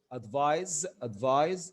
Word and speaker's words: advise: لكن بالاس which is pronounced advise is the verb.